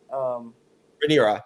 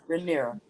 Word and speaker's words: Rhaenyra: Rhaenyra, yeah, you had it. Rhaenyra.